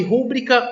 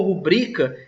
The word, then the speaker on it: rubrica: Ainda nós temos aqui a dúvida de rúbrica ou rubrica, e vocês estão vendo na resposta rubrica. Está sublinhada a segunda sílaba. Essa é a pronúncia correta em relação à norma padrão.